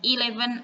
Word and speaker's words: eleven: bahasa Inggrisnya Hai MNC Nah bukan eleven eleven bacanya ilefen artinya 11 Lalu ada Oke